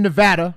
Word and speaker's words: Nevada: high noting one away and you're living in Nevada harder the correct pronunciation part a living in Nevada hard a